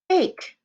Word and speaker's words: bake: And we need to have that silent E or the A won't say its name. It would say back, but we want it to say bake, so it has the silent E at the end.